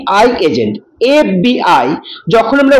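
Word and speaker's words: FBI: যেমন হি ইজ অ্যান এফ বি I agent F বি আই যখন আমরা উচ্চারণ করছি এফ তখন এ আগে আসছে আর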